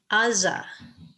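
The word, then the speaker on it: עזה: with an ion so if we said it in modern hebrew we would say aza aza but in ancient times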